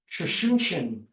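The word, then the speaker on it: Tsuchinshan: Could you pronounce that again? Shushunshin.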